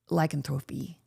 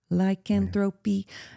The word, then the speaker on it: lycanthropy: I always say that word wrong. Did I say it right? Lycanthropy. In my song, My Pet Werewolf, I'm always singing that line wrong. There's a little trivia. Lycanthropy, trip to the vet. I say tropy.